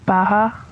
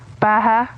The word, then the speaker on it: Baja: What'd you call them? Baja. Baja. The Baja light?